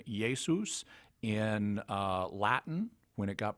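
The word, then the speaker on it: Ἰησοῦς: forms of his name in Greek it became yay Seuss in Latin when it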